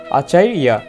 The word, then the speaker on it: আচার্য: প্রথমে আমরা বলবো পাণ্ডু পুত্রা নাম, এরপরে উচ্চারণ করবো আচার্যা। এখানে জ লেখা আছে 29 জয়ের উচ্চারণ আমরা জানি শিক্ষার্থীরা ইয়া। তাহলে আমরা উচ্চারণ করবো আচার্যা, পাণ্ডু পুত্রা নাম আচার্যা।